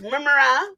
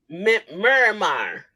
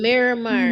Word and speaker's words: Miramar: Miramar. It's in Miramar, Florida. Yeah. Miramar. Okay, so it's like Omar. Miramar, Simon. Miramar Regional Park Amphitheater.